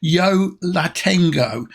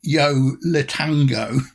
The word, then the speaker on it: Yo La Tengo: always pronounce it wrong it's Yo La Tengo not as I always call it yo letango um and uh it's